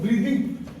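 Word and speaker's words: breathing: पहला बात पता है, इसको ब्रीथिंग नहीं बोलते, इसको जानते हो क्या बोलते हैं, जैसे तुम लोग पढ़े हो, इसको बहुत कोई ब्रीथिंग, ठीक है, रियली में इसको ब्रीदिंग दो प्रोनाउंसिएशन इसका ब्रीदिंग, ठीक है, हेलो, ब्रीदिंग।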